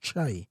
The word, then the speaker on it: Kyei: And the reason for that is that my surname, Kyei, is pronounced Che. Right. Obviously, no one would know that unless you're Ghanaian.